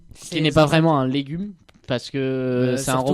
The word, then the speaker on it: Légu: C'est ce qu'elle va faire après la rencontre d'une De certaine ce fameux robot humanoïde, Légu.